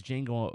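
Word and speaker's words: Django: going to tell him your name is jeno but the Jay is silent but you're a slave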